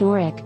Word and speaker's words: Norwich: place names, namely, that of the W in the Wich suffix, which, as I understand it, is not enunciated.